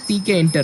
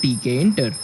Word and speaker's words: Tkinter: Yes, it's spelled as TK Inter, right?